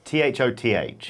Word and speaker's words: Thoth: It's T-H-O-T-H. I believe it's pronounced Thoth. Like the record store.